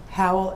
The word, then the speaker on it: Howell: spell it for the court reporter Howell it's howl h o w e l l and you